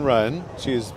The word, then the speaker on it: Wren: No, the silent W Ren. Oh, I get it. The different. W is silent.